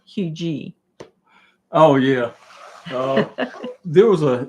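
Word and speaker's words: Huger: It's Hugh G, not Hugger.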